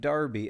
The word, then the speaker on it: Derby: Today taking on Derby County, spelled like Derby, pronounced like Darby, at least according to English people.